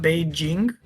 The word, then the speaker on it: Beijing: You know it's pronounced Beijing. Well, I did not know that actually. That's how they say it in China.